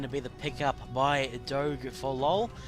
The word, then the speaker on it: Doge: Yeah, okay, so Riven and Graves going to be the pickup by Doge for LOL. I've been told that it is Doge, or Doge, not Doggy. We're getting reprimanded on that one.